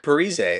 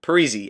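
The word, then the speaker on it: Parise: heard in a while Zack periz or sorry Zack perzy I remember people used to call him P then I guess he came out and said it should be pronounced pzy anyway Zack pzy signed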